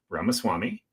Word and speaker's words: Ramaswamy: We have businessman Vivek, rhymes with cake, Ramaswamy.